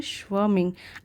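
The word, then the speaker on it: swarming: बेगन स्वर्मिंग, इसे पढ़ेंगे स्वर्मिंग, आर यहाँ पे साइलेंट है।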